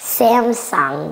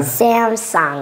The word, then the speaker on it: Samsung: Can you help us pronounce this? They give you TVs and phones. Yeah. Samsung. Once again. Samsung.